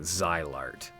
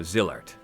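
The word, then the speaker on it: Zilart: I've heard some people pronouncing it Zylart. Now, some of you know me. I understand that the point of language is to get across meaning more than it is about the words themselves. I also like to nudge pronunciation into the right direction. Now, the kana in Japanese for Zillart is jirato. If it was Zylart, we'd have Zairato. That's not what we have.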